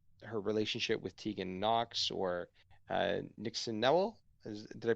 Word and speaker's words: Nixon Newell: It talks about her relationship with Tegan Knox, or Nixon Newell. Did I pronounce that correctly? Nixon Newell, yep, spot on.